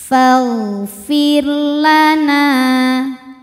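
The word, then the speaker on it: فاغفر لنا: lagi fi fi Fir ro sukunnya tipis bacanya nyantai lidahnya karena sebelumnya qar Jadi bukan Fir Bukan tapi Fir tipis fagfirlana dan ro ini suaranya ada aliran dulu baru belakangnya putus tawasut ya Fir Fir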